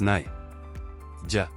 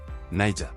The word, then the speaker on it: Niger: Pronounced as Niger. Niger. The first syllable is pronounced as Ni, rhyming with my.